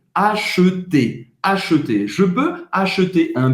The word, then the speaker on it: acheter: Acheter. Geralmente, quando você tem ER no final de uma palavra, de um verbo, você vai pronunciar E. Acheter.